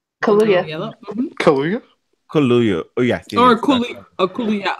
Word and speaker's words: Kaluuya: se, but Daniel Ayalo, is that how you pronounce his name? Kaluuya. Yellow? Mhm. Kaluuya? Kaluuya.